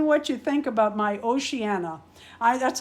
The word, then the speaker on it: Oceana: you think about my Oceana I that's how I'm going to say her name it's it's ocean with an a behind it to me that's oceanana she needs a surfboard now